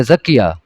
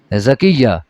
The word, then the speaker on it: زکیہ: بھی رکھتے ہیں، لیکن ہمارے ہاں بولتے غلط ہیں، کہتے ہیں زکیہ، حالانکہ لفظ کیا ہوتا ہے؟ زکیہ۔ اچھا، پھر ہمارے ہاں جب سپیلنگ اس کے وہ الفاظ لکھتے ہیں وہ زال سے لکھ دیتے ہیں عام طور پر، زکیہ جب لکھتے ہیں زال کے ساتھ، حالانکہ لفظ زے کے ساتھ ہے، یہ جو لکھا